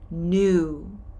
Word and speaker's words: knew: no no past tense new like old and new this k is silent did you know the answer yes i knew it how did you